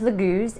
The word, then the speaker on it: Laguz: The pronunciation is Laguz.